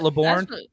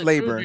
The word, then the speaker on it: Laburn: It's not Laborn. It's Laburn. I trust anybody else on pronunciation over myself.